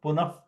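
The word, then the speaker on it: पुनः: Upadmaniya is like a F sound. Like you can see that punaha, punaha will become punaf, punaha. Okay, it has to be pronounced like punaf, punaha. This is the only place where you get very close to the F sound in Saṁskṛta.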